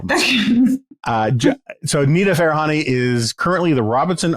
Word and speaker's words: Farahany: Farahany. Farahany, okay. Pretty much how it's spelled.